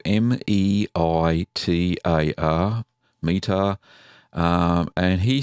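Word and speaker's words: Meitar: The first one is from, I hope I don't get the name wrong, Meetar, spelled M-E-I-T-A-R, Meetar.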